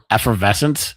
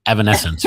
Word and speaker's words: Evanescence: I always say effervescence because it irritated her when she was young. She's like, "Dad, that's not the name of the band." So I have said it wrong so many times now that I have to actually think Evanescence.